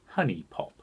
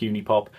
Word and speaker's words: HuniePop: hate you d pop incidentally is it not actually pronounced honey pop do you really think that I care at this point i would guess not good guess if they're going to spell it wrong then i'm going to pronounce it wrong there is nothing else